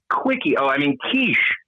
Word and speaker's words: quiche: I am making a delicious quiche. A That's how you pronounce that.